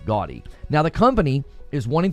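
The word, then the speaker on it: Gaudiy: They're investing 10 billion yen in a partnership with Bandai into a company called Gaudy. It's spelled a little funny, G-A-U-D-I-Y, Gaudy.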